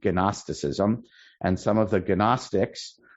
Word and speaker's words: Gnosticism: Okay, there was that in Zoroastrian, which was in Persia, but even in Eretz Yisrael, there was Gnosticism, spelled with a G, Gnosticism, and some of the Gnostics were binitarians.